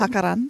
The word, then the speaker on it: jacaranda: Jacaranda? Jacarandas. Jacaranda. So in Spanish, it definitely is jacaranda, but in English, it's jacaranda. So you can Stop say it it.